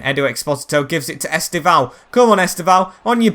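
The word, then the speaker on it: Estevão: It's Estevao, not Estevao.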